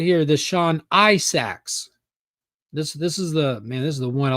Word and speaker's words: Isaacs: Sean Isaacs. Minotaur. Isaacs. There it is. Isaacs. That's how you say it.